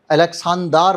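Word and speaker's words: Александр: Alexander, अलेक्सांदार बोलते हैं वहाँ पे रशियन प्रोनाउंसिएशन में, लिविटेंको, एलेक्साई नोवेलिनी, नोवेलिनी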